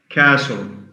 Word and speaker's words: castle: So this means that when we have the combination of letters S, T, L, the T is silent. Castle, silent T, S-T-L.